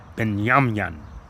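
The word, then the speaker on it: בנימין: You have to keep in mind that this pronunciation may be a pronunciation given in the Yiddish. And I'll give you the correct H144. Been now in the Paleo Hebrew, the Lashan Kadesh, his name is Beyaman.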